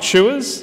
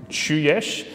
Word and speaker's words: Cujes: again it's been mentioned chewers is how i say my name i believe my grandfather would say chuyesh it's slovenian in origin and i answered it almost anything so it's it's okay if you call me kuyes or kujas or usually